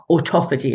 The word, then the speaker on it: autophagy: rid of spike protein is by autophagy, self-eating, autophagy as it's pronounced, and that is switched on by fasting.